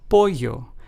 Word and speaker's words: pollo: As in, they both have the ye sound found in the English word yellow. For instance, let's take the words lleno, which means full in Spanish, is pronounced as lleno. Then we have the word pollo, which means chicken in Spanish, is pronounced as pollo.